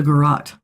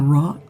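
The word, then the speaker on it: garrote: Now I know how to say it. It's a garrot. Now we know. Garot.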